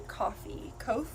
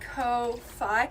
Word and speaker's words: Ko-fi: You pronounce it like Ko-fi. See, that's what I thought. Like Wi-Fi, right?